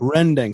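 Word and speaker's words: rendang: okay what is rendering rending so like in indonesian the pronunciation but you know it's rendering r-e-n-d-e-n-g and basically it's this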